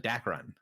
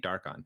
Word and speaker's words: Dakrun: his name wrong again uh dakrun i keep saying dark on so dark run stone